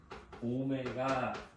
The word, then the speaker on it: 오메가: 허근을 이렇게 쓰는 거고, W처럼 생겼지만 읽을 때는 뭐라고? 오메가 라고 읽는 겁니까? 알파처럼 이거 라틴어야, 라틴어. 그러면 일반 W처럼 안 생겼잖아. 우리 수학에서 W 쓸 때는 이렇게 뾰족하게 써. 이게 W고, 얘처럼 지금 살짝 이렇게 굴렸지. 이거는 오메가라고 읽으셔야 돼요.